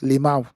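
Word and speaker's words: LMAO: Limau. You know, Nigeria, we don't use Mhm. we pronounce the abbreviation. Giriweme, Limau. We don't just say Mm.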